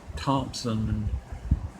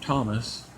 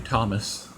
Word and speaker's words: Tomas: Now, some people, I understand some people from other countries when they say my name on my channel name and stuff. They instead of saying Thomas, they say Tomas, which I'll let that slide because it's kind of hard to pronounce. It's probably hard to pronounce it, and stuff. But it's actually Thomas.